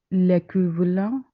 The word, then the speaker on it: équivalent: soit l'équivalent, No, again. QU, replace it with a K.